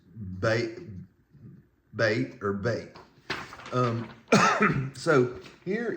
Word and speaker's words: Bet: Um, and it's pronounced ba bait or bait.